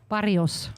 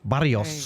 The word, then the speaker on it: Barrios: You know how to roll your tongue better. Yeah. Barrios. Barrios. There you go. Hey, I did pretty good with that. Barrios.